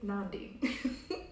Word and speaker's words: Nandi: astrologer and medium aka nandi it's pronounced non-people with a um it's pronounced nandi yes it is pronounced noun d it's pronounced like gandhi but with an n there you go so